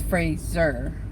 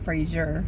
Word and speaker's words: Fraser: I pronounced that right I think it's Fraser not Frasier Fraser can I park